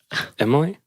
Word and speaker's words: Emily: and pape and mmm I feel like just people from Indiana I don't know why say my name like with an e at the beginning Emily Emily well how